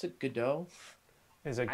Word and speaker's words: Godot: Sure, so, yes, right now I'm using a game engine called, they usually pronounce it Godot. Is it Godot?